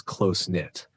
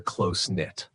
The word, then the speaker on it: close-knit: You can also describe a group as close-knit. Here's what truly matters. The K in knit is silent, and the phrase requires the verb to be, as in they're close-knit.